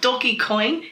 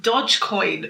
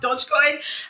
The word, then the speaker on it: Dogecoin: things very quickly guys it's not doggy coin it's pronounced dodge coin so you look like a bizzy i've been holding myself like guys it's pronounced dodge coin um so it's been